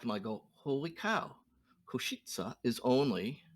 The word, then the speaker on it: Košice: Koshi, is that how you say it? Košice.